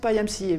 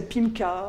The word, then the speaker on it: PyMCA: have to pronounce it PyMCA, because I know that the Spanish people say PIMCA or whatever, so PyMCA, and there is a reason for that. Py for Python, MCA, multi-channel analyzer.